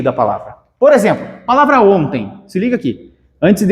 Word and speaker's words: ontem: ontem não eu falo ontem então vejam Eu estou estudando o quê fonologia Eu estou estudando fonologia então aqui esse em é pronunciado assim ontem beleza palavra também a